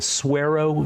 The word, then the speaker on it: Suero: If you don't want to do a complete fast, do what's called a Suero V cleanse. That's spelled S-U-E-R-O, first word, Suero, second word V, V-I-E.